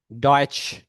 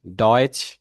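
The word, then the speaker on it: Deutsch: আবার যদি TCH, টি, টি, SCH, এটার উচ্চারণ বাংলায় যে ইয়েটা হয় এটাও স, ডয়েচ, মানে এটা স, যদি আমি এটা লিখতে পারছি না এভাবে লিখতেছি আর কি।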